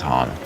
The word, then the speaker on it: Han: It's Han, but that's okay. We don't need a backstory on why he can do a turn and cut through something as it's closing. Han, no, we're not going to make it.